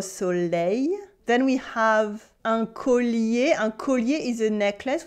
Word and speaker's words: collier: We have L-L-I, but it's not E-L-L. So the two L get to keep their sound. We say un collier, okay? But we have a y sound at the end. It is collier, collier, collier, collier.